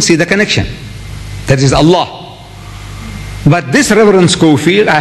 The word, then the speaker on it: Allah: If it's A-L-A-H, is Allah. You say Allah. I said, look, say Allah. My language, I want you to pronounce as I want you to pronounce.